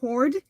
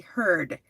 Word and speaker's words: herd: So I've been saying it wrong. It's actually heard.